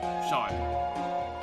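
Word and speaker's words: Seam: The name's Sean. Pronounced Sean. This is my little seep.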